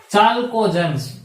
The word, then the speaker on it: chalcogens: These elements are known as chalcogens. I think C અહીંયા આવવો જોઈએ, કદાચ K છે, મને સ્પેલિંગ ભાઈ યાદ નથી બરાબર, but it is pronounced as chalcogen.